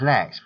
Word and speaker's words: NeXT: Its name was usually pronounced as Next, based in Redwood City, California.